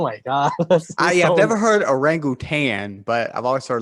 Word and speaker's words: orangutan: You guys say the orangutan, but actually the proper Malay pronunciation is orangutan.